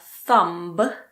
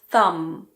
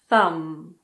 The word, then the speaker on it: thumb: So this is not a thumb, it's a thumb. Thumb. Pretend that the B isn't there.